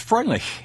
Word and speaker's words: Freundlich: Fred Freundlich is with us. Fred, your last name in German would be Freundlich. Right. How do you say it? Pretty close to that. Oh, great. Exactly that.